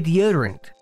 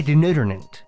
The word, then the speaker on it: deodorant: of her words, but she could not say deodorant. She would say denodorant.